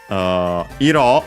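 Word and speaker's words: 色: Iro on its own accent on the last mora means color, so yeah, water color, color of the water.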